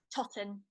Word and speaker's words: Totten: Totten.